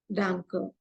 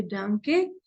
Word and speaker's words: danke: is of uh then for thanks it is danker so either ways you can say it is some people they say dke and some people they will just say Dan both are correct so for thanks it